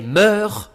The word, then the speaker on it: mœurs: H la consonne S à la fin des mots ne doit pas se prononcer sauf exception. Donc avec le temps, les meurs changent.